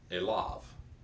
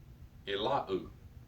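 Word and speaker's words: אֵלָיו: And the temptation is to pronounce unto him as Elahu, Elahu, but it's not Elahu at all. That ending vav is not the U vowel.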